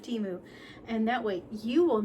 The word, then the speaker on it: Temu: a few items from I guess TAMU is how you say it instead of Teemu and that way you